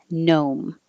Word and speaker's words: gnome: So it's just a in, gnome.